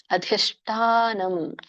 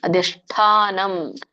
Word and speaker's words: ಅಧಿಷ್ಠಾನಂ: ದೈವಂ ಚೈವಾತ್ರ ಪಂಚಮಂ ಹರಿಕೃಷ್ಣ ಇದರ ಒಂದು ಉಚ್ಚರಣೆ ಅಧಿಷ್ಠಾನಂ ಠ ಮಹಾಪ್ರಾಣ ಇದೆ ಅಧಿಷ್ಠ ಶ ಮೂರ್ಧನಿಷ ಇದೆ ಮತ್ತೆ ದೊಡ್ಡ ಠಿದೆ ಸೋ ಹಾಗಾಗಿ ಮೂರ್ಧನಿಷ ಜೊತೆಗೆ ದೊಡ್ಡ ಉಚ್ಚಾರಣೆ ಬರು ಹಾಗೆ ನೀವು ನಾಲಿಗೆಯನ್ನ ಹೊಳಿಸಬೇಕು ಅಧಿಷ್ಟಾನಂ ಅಧಿಷ್ಠಾನಂ ತಥಾ ಮಹಾಪ್ರಾಣ ತಥಾ ಕರ್ತ